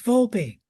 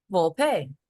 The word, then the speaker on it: Vulpe: name for me it's vulpe vulpe vul but V is close enough okay it's Italian so the E is pronounced Italian okay all right thank